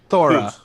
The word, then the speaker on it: Thora: Thora. Thora? Thora. Thora, like God of Thunder, Dora. Oh, Thora.